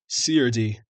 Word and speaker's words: serde: Technically, the correct answer is CRD, because it's short for serialization, deserialization. So CRD.